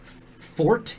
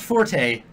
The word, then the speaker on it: Forte: Fort is pronounced fort. It's not forte, it's fort.